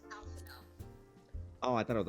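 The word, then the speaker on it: Alphinaud: Nearly all of the Elizan names are French. So, Alphino, you're pronouncing that wrong because Alphino. Oh, I thought it was Alphanod.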